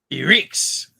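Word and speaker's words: Ehrgeiz: next one that I have learned how to pronounce is he Ricks so this is a fighting game it's a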